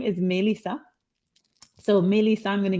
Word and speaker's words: Mélissa: say my name but my my american version of it just say m-a-y like the month i am born in and that will give